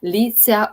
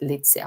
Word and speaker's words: Litsea: Litzia. Uh um that's how I pronounce it. Litzia. Maybe some people pronounce it differently. Show the name again please. Litzia. Uh let me spell it for you. L I T S E A. Lit. Litzia.